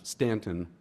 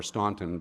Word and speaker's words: Staunton: And if you are interested in that at all, it's the first weekend in June down in Stanton or Staunton, Virginia, depending on your pronunciation of it.